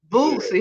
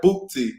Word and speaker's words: Boosie: Boosie. How you say it? Boosie. Boosie. Yeah, you know, you put that little T, it sound like Bootsy.